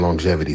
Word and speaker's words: longevity: My homie just asked me why do we pronounce the G in longevity twice, and I can't stop thinking about it.